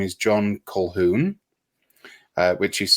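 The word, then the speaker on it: Colquhoun: His name is John Kolhoun. Uh which is spelled with there's a few Q's in there, but we don't pronounce them. So, it's Kolhon.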